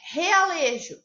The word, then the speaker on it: realejo: Realejo. Então, ó, realejo, né? Parece que o R tem um som forte.